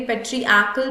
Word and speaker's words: patriarchal: तो याद रखेंगे पेट्रियाकल प्रोनाउंसिएशन तो इस तरह है, बट ये आर प्रेजेंट है वहां पर, इसको स्किप नहीं कर सकते जबकि उसको प्रोनाउंस नहीं किया जाता है.